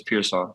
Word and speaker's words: Pearsall: highlights on the field everybody kind of butchers it but it's peaw that's how you pronounce it peaw so I had it